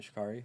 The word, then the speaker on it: Sha'Carri: So, speaking on Sha'carri Richardson, that's how you pronounce her name, right? Sha'carri?